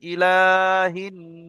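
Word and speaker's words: إِلَٰهِ: রাকিবুল ইসলাম ভাই মিউট খোলেন পড়েন ইলাটা একটু টানবেন ইলা লামটা টানবেন ইলাহি ঠিক আছে মাশাল্লাহ রবিউল রুবুল আলী ভাই রবুল আলী ভাই মিউট খোলেন পড়েন।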